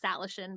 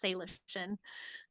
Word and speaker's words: Salishan: I'm like, dang it, because it's not necessarily intuitive because it looks like Salishan, but it's Salishan.